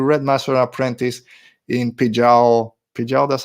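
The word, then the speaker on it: Pijal: also if you read master apprentice in pijao pidgeot that's how you say it they raised varactyls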